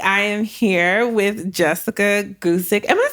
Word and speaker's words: Guzik: It's Polish Guzik, but Guzik.